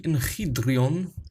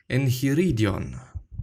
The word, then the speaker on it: Enchiridion: We're gonna go through the enchiridion, or actually, as I have seen and realized that I've been mispronouncing it for quite some time, the enchiridion. There is another syllable, I guess.